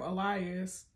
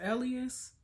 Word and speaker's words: Elias: I've been calling him Elias. It's Elias. I'm going to call that man Elias because that's how Chloe says it.